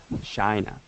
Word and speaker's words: China: market behind china china china right with an i sound all right great and